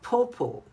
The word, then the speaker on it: pawpaw: Of course, leuches and mangoes and but there was a certain fruit called pawpo which is like a papaya and it's spelled p a w p a w and